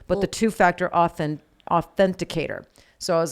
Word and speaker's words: authenticator: again olivia autisticity authenticator authenticator i thought authentication i want to say authenticator ridiculous authenticator yeah and